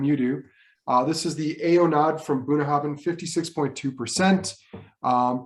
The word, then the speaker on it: Aonadh: This is not Aonadh, it is Unuch.